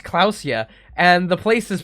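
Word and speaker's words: Klaasje: is pronounced uh it's like her name is pronounced clusia and the place is pronounced Revol equip flashlight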